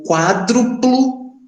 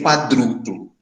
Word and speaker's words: quádruplo: O quádruplo de 7. Só cuidado que aqui a gente tem o costume de ler quadruplo. Né? Não, é uma proparoxítono. A antepenúltima sílaba é a tônica, então é quádruplo.